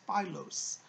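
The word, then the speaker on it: Phylos: The name is Philos. P-H-Y-L-O-S is how it's spelled.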